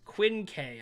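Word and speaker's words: Quinque: lose your composure amon it's pronounced quinn k i think probably different in some languages quincy thank you for that okay quinn k watch look at that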